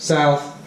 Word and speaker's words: South: and West, yeah North, South, East and West, yeah I'm sure you knew this already, now be careful when you pronounce these words, North and South, both end in TH, TH, okay now this